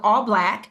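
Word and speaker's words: ALLBLK: It's called All Black, but it's spelled all bl.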